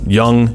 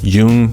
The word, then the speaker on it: Jung: of Buzz I love psychology okay Freud Carl Young Jung depending on how you pronounce it and there was a third guy